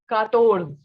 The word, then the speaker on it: quatorze: Next we have 14, which is quatorze.